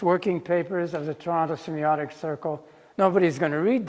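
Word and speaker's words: semeiotic: So I decided that this was my foray into Peircean semiotics. I would call that book according to the way Peirce wanted that word spelled. It's pronounced the same in semiotic, whether it's EI or I.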